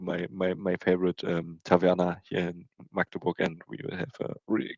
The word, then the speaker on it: Magdeburg: It's called not how it's pronounced in the TV. They usually do it wrong. It's called Magdeburg.